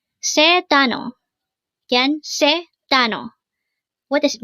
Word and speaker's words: 단어: word number 368 Tano Tano this is pronounced as a two syllable word the first syllable is tan second syllable is O pronounce it with me Tano Tano Tano means individual